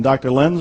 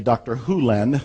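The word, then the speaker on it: Hew Len: some heads nodding in dr len's world and it's actually dr hulen i've shortened it from e to dr len but it's actually dr houlen if you want to say his name correctly in dr hulen's world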